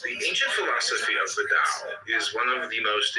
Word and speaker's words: Dao: The word Dao, properly pronounced Dao, has lent its name to a way of understanding and living in the world with profound implications for modern societies.